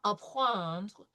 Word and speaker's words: apprendre: So it's APP with the RE, and this is it. This is nasal. So apprendre, okay? Apprendre. Prononcer les quatre voyelles nasales. So it's AP with the R sound with the nasal EN de.